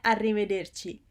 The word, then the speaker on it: arrivederci: Then you have grazie, arrivederci. Grazie means thank you. And arrivederci, it's 5 syllables.